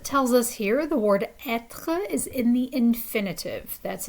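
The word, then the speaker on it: être: english is like but the french r is more like gargling something in your throat so it's it and as it tells us here the word etre is in the infinitive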